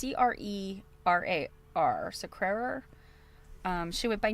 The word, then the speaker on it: Crerar: I don't know how to pronounce her last name. It's Crerar.